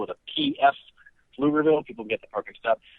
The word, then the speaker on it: Pflugerville: I live in Austin, Texas, greatest city in the world, and I currently teach at a school called Pflugerville High School. That's spelled with a P-F, Pflugerville.